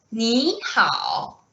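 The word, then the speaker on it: 你好: To say hello in Mandarin, we say 你好, 你好.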